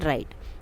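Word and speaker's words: write: आपका साइलेंट क्या है देखो डब्लू की कहीं भी साउंड नहीं आ रही हम क्या बोलते हैं राइट तो साइलेंट क्या हो गया डब्लू नाउ टिक वर्ड च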